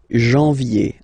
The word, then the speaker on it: janvier: Janvier, A-N, en, okay, and then ye, janvier.